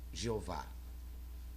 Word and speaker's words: Jeová: Esta inscrição hebraica é um tetragrama pronunciado Jeová.